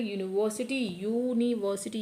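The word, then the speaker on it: university: तो यहाँ पे यू को आप प्रोनाउंस करें यूनिवर्सिटी, यू के दे रहा है तो आप अ का यूज़ करें।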